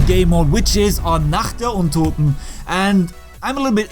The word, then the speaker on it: Nacht der Untoten: can go outside in Nacht der Untoten, that's what it's pronounced in German.